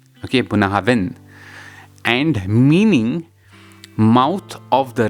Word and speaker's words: Bunnahabhain: The idyllic location of Bunnahabhain, pronounced Bunnahabhain, Bunnahabhain, and meaning mouth of the river in Gaelic,